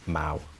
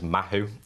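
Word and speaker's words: Mahou: But I personally am a big fan of Mau beer, which is, people perhaps might know it as Mahu, as sometimes they look at it, where it's spelt the way it's spelt.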